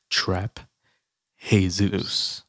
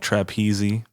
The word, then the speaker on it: Trap Jesus: For those that don't know how to pronounce that name, it is Trap Jesus. It's not like Trapeze. Because some people are like, yo, I don't get your new name. Is it Trapeze?